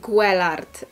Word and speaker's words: Guelard: Słuchajcie, mam na nazwisko Guelard i to już od razu do kolejnego pytania, jak wymawiać moje nazwisko. Moje nazwisko czyta się Guelard. Po prostu mój przodek był Francuzem.